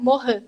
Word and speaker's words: Morin: Professora, me corrija, mas eu falei errado da última vez, mas é Edgar Morin, certo? É a pronúncia francesa, mas não tem problema, nós estamos aqui para aprender, né?